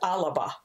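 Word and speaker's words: Alba: a but it's pronounced Alaba oh okay so that extra syllable that's put there in the middle is an example of athesis or a farak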